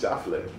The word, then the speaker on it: JaFleu: My mom goes JaFleu, so it's JaFleu.